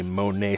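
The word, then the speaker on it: Mornay: into a cheese sauce or a Monae sauce I believe is the correct pronunciation with this being so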